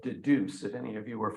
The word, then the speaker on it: Dedoose: transcripts by putting them into a program called Deduce, if any of you are familiar with that. Okay, it's spelled D-E-D-O-O-S-E.